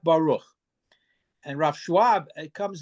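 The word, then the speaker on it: ברוך: If a word is Baruch, the way it's pronounced in normative Ashkenazic pronunciation, it's not Burich. Burich is not Baruch.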